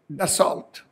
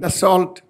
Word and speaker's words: Dassault: the HAL and the Dassault. I'm using the Indian pronunciation, for it has become a popular. None of us knows French, nor do I. L and T are supposed to be silent in French.